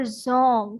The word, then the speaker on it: Dzong: Okay, this is Zong with D, which is silent, and this is the name of the Buddhist monasteries.